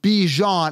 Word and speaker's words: Bijan: is like this is that's how he wants it pronounced but it's it's by I see buy and then Jan j-a-n like as in Ran Jan and then buy as in bi-weekly and they're saying Bijan as in Dijon mustard like I don't